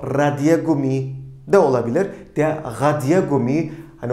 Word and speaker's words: Radiergummi: O Radiergummi de olabilir. Der Radiergummi, hani onu birazcık daha sert bir şekilde gırtlaktan çıkacak şekilde de vurgularsak ne kadar güzel bir vurgu olur.